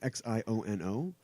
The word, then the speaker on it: Xiono: It'll premiere on Disney XD, and it's going to follow a character named Kazuda Giono. I'm not sure how to pronounce his name. Xiono.